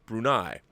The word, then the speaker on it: Brunei: You see, prior to that, Sarawak was governed as a vassal state of the Sultanate of Brunei, pronounced Brunei.